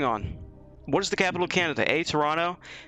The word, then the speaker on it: Canada: hold on hold on it's it's pronounced canada sorry it's not canadia you know what uh